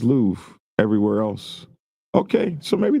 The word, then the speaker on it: Louvre: It is pronounced Louvre.